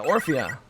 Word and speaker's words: Orphea: I think it's Orphea? Yeah, Orphea.